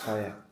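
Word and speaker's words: Fage: I think it's pronounced fire or faj. It's fire.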